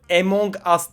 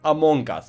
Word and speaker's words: Among Us: Bu arada bir dakika Bazı insanlar oyun İsmini yanlış telaffuz hediye emongas değil Amon gaz bakın en mont değil Lütfen şunu Düzgün telaffuz yok yani İngilizce doğru telafi edeyim derken işin bokunu çıkartıyoruz Amon gaz emok değil gıcıklanma yorumlara eylem olacak yazacağınız